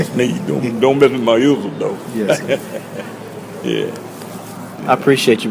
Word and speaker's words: Isidore: Isidore Sneed. Nah, I'm gonna tell you how to spell that Isidore. I just use I. Sneed. Isidore. Most people they make a mess of that Isidore. Isidore.